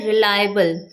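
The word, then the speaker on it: reliable: सो इस तरीके से इसकी करेक्ट प्रोनंसिएशन होती है रिलायबल।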